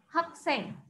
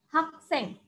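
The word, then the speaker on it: 학생: Siswa atau murid, bahasa Koreanya itu adalah hakseng. Hakseng. Hakseng berarti siswa atau murid. Nah, Kwanda friends di sini termasuk hakseng ya.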